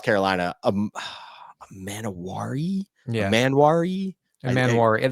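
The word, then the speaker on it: Emmanwori: Manwari. There seems like there should be another vowel between the N and the W, but there's not.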